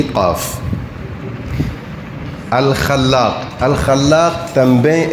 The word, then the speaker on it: Al-Khallâq: Depois A com circunflexo, Khalla, depois Q, Al-Khallaq. E você que fala árabe, vamos. Alif Lam, Kha, Lam, Alif, tem aí no Lam tem um tashdid, e Qaf. Al-Khallaq.